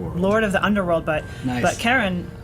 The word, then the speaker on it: Charon: was Charlene so like I guess the community pronounces it Sharon after Charlene but it's officially named after a you know a mythological figure so and and the correct way to pronounce it in that case is Karen but in in a